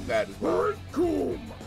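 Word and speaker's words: Recoome: Rikum, it rhymes with doom.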